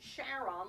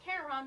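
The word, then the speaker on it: Charon: so those people know pronounce it Sharon like his wife Charlene and and people are more into mythology you can okay Karen but it's really the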